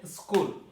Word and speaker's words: school: এরপর হচ্ছে স্কুল। স্কুল এখানে এইচ আছে, উচ্চারণ নাই।